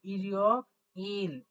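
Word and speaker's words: 일요일: ইল, ই রি ও, অর্থাৎ এই যে পূর্ণাঙ্গ একটা ই আছে, আর নিচে যে বাচ্চামের রিউলটা আছে, রিউলটা কিন্তু উঠে যাবে, ইয়ং এর কাছে উঠে গিয়ে উচ্চারণ হবে। তো আসলে রিউল নিচে বসলে হয় ল, কিন্তু সে তো নিচে থেকে সাউন্ড দিচ্ছে না, সে উপরে উঠে সাউন্ড দিচ্ছে, তাই উপরে বসলে কি হয় র, তাই জন্য হয়ে যাবে রিও।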